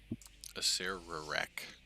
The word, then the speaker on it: Acererak: Acererak. Acererak. Yeah, everybody forgets the error.